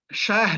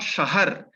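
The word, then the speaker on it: شاه: is why we it is it is uh pronounced as shah and not shahar as in urdu we call it sahar yeah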